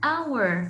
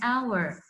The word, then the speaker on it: hour: H I need an hour look here we have a sinus H we don't pronounce the H I need an hour I need an umbrella